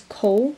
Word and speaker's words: Kol: There's Kol, which kind of sounds like Dole, and it's kind of spelled like the Egyptian word Kol.